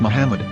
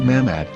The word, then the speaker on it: Muhammad: a after the H according to Ben yehuda's Hebrew English dictionary it is correctly pronounced as Muhammad not mammad so how we're going